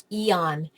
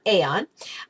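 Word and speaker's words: Aeon: the life wave YH Eon patches it's actually pronounced Eon not Aon um and they are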